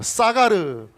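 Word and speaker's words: סָגַר: 이 히브리어 동사인데요, 좀 발음이 조금 위험하지만 잘 따라해 주면 좋겠습니다. 자, 따라해 보시죠. 사가르.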